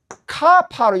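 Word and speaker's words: כָּפַר: 그래서 구속은 카파르 요거는 조금 긴 발음이에요.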